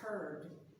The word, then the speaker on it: heard: past tense is pronounced heard it's spelled h-e-a-r-d but pronounced h-u-r-d her English is so